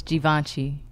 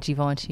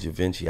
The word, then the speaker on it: Givenchy: So, and a side note, it's Givenchy. It rhymes with raunchy, like Givenchy. Givenchy? Yeah. Oh, I thought it was Givenchy.